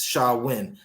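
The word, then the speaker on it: Samhain: ancient Celtic Festival Sam hay a GIC word pronounced Shalla win a pagan religious celebration to welcome the Harvest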